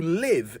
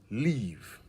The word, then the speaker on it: live: have always wanted to live in Scotland so there you go and please remember if live not leave that's how you say it right